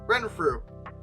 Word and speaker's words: Renfrew: Yeah, Renfrew. Okay. Honestly, I expected it to be pronounced really weirdly, but it really is spoken phonetically, so that's good.